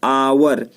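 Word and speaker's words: hour: इसका उच्चारण आइए पढ़ते हैं, आवर।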